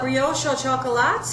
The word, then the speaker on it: brioche au chocolat: Now, how do you pronounce this? This is a brioche au chocolat, and it's a brioche dough wrapped around guittared